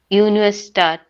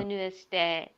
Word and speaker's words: Universität: So this one is like A with 2 points. It's called A umlaut. Whenever you want to read this, how do you say air in English? Like air, right? What you read? Just say air without the R part.